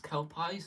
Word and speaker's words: Kelpies: Kelpies, that's how you say it.